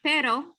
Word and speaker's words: pero: But if we have pero, then that's butt.